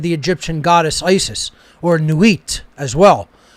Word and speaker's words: Nuit: traditions this represented the egyptian goddess isis or nuit as well n-u-i-t nuit different pronunciations of it but it represents that pure